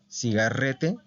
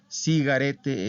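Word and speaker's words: sigarette: plural Perdón femenina plural cigarete o cigarete cigarete es es van a encontrar cualquiera de esas dos pronunciaciones cigarrete así como nosotros r pero cigarete es más común Entonces como es una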